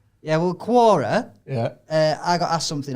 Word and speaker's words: Quora: oh yeah so i i've always been pronounced it quora like corn the quorn yeah well quora yeah i got asked